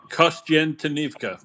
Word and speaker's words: Kostyantynivka: Yeah, well, I hope I pronounce this correctly, but do you know what the situation is in Kostyantynivka? Kostyantynivka.